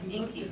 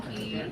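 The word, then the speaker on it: Enkie: I'm Inky. Thank you so much for this. Is it E? E-N-K-I-E. But it sounds like ink, like I is. Yeah, you know when people pronounce everything, Anky, Yeah, Inky, yeah.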